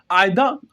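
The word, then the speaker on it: either: पता होना चाहिए देखिए इसको दोस्तों हम इदर प्रोनाउंस नहीं करते क्योंकि दोस्तों इसमें जो है ना हमारा आर साइलेंट होता है आईदा ही बोलते हैं इसको ठीक है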